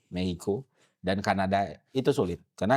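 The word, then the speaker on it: México: Mexico. Bacanya Mehico. Mehico. Mehico.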